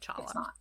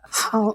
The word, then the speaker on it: challah: it, but please Don't call it Challah. It's not. And actually that confusion where people have people have tried to translate Hebrew terms to English English I'm not used to using guttural sounds. That's why we have the different spellings of Halla. because it's not it's not actually Hanukkah. It's Hanukkah. It's that same guttural H sound.